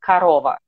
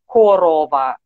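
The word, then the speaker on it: корова: pronounced like uh i i'm used to pronouncing it like a karova but it's a cow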